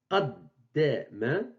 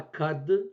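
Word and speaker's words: قدّم: Ce n'est pas kad, ce n'est pas kad, c'est qad. Qad. Allez chercher la prononciation correcte au fond de la gorge.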